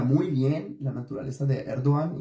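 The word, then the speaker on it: Erdoğan: como dijo mi amigo Emir herzajin erduan Así es como se debe pronunciar según él en Turco hay una entrevista sobre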